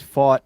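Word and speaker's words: Pfaadt: good he is yeah last name is his fought but uh silent P right his last name begins with the p so p f two A's yeah that's a odd odd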